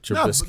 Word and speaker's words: Trubisky: I said to myself, last year when I saw Trubisky, I can never say his name right. Trubisky. No, you got it right.